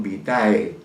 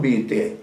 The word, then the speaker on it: vitae: Sin embargo, ahora asombrado escucho que todo el mundo habla de curriculum vitae, ¿no? Que es incorrecto, porque en este caso la palabra se escribe vitae, sí, pero se pronuncia curriculum vitae, no se olviden.